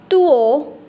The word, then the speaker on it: duo: Will be pronounced as tuo, tuo.